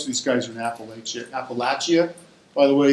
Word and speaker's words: Appalachia: east coast most of these guys are in Appalachia Appalachia by the way it's pronounced Appalachia my relatives my mom's side are from Apple